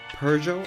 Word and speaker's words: Peugeot: But you can see the Pidgey out there. I think that's how I pronounce the manufacturer. Okay, so future me here, apparently it's pronounced Peugeot.